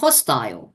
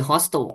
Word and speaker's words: hostile: ครับ มา ช่วย กัน แปล ก่อน คำ ว่า hostyle นะ ครับ คำ นี้ ออก เสียง ได้ 2 แบบ นะ ครับ hostyle หรือ hostle ก็ ได้ มัน จะ เป็น สระอาย ก็ ได้